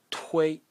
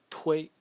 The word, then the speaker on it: 推: The next character is pronounced tui, tui.